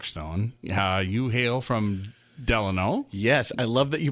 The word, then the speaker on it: Delano: don't know mark stone yeah you hail from Delano yes I love that you pronounced it correctly it's not delay no no it's della yes baby deli yes and then you so